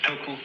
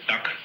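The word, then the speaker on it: 德: this word dirt uh the Japanese pronounce it toku the Cantonese duck and the northern mandarins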